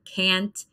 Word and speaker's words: can't: we pronounce a an can't dance but in the UK some people actually pronounce it like on so it's not pronounced